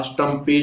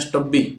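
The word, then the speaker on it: stubby: है ये है हमारा स्टंपी स्क्रू ड्राइवर और इसकी जो स्पेलिंग है वैसे ये नहीं होती इसको बोलते हैं स्टब्बी ये स्पेलिंग होती है स्टब्बी स्क्रू ड्राइवर है इस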